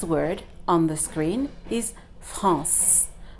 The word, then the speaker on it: France: Not français, not français, not français. Why? Because the E at the end is silent. So what we're really reading is the C, the letter C that is before it. France.